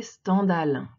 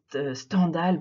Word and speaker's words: Stendhal: on il est établi qu'il faudrait plutôt le prononcer stendhal comme scandale puisque c'est lui qui dit dans une lettre à 1 un de ses amis qui veut ça plaît stendhal pour que ça rime avec scandale puisqu'il à